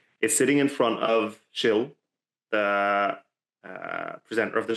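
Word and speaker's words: Gilles: sitting in front of chill the uh presenter of the show oh is that how you pronounce it I've just been saying child so this is a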